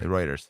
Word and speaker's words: Reuters: doesn't really or Reuters or whatever however you pronounce it Rutters Reuters literally My Family's last name yeah uher reuer is it reuer Reuters yeah I thought your last name was bacon